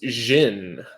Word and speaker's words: Djinn: which by the way i'm pretty sure it's pronounced jin and najin but i